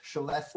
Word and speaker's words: celeste: in that teal color it's actually uh pronounced celeste and it's bianchi's trademark color and you'd see